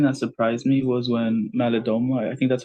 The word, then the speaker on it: Malidoma: I think how you pronounce it, it's Malidoma, right?